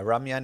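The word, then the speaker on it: 라면: Yeah, Ramyan is the Korean pronunciation obviously.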